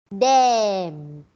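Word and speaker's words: damn: Dam, it's okay to say the D-A-M-N is also pronounced as dam.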